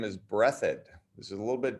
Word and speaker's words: Breathed: his name is berkeley breathed because that's looks like the word breathed but that's not how you pronounce his name it's brethren his name his last name is brethod this is a little